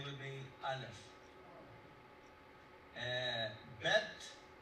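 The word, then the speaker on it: ב: Bet. A bet is just a regular B.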